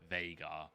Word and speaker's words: Veigar: The developers pronounce it Veigar because they hate me.